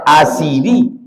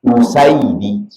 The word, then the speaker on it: Usaidi: Sumbar R Wal usaidi bisa dibaca orang asidi rupanya yang betul membacanya Hamzah hamzahnya dibaca bamah usaidi Asad singa kalau usaid